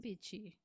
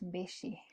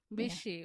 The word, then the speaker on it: Mbichi: one boy with me is your second name vichy it's pronounced bishi bishi oh oh sorry bishi welcome to the podcast